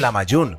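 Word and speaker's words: lahmacun: para hacer un platillo llamado la mayor se pronuncia en la mayor pero se escribe la amac un esta es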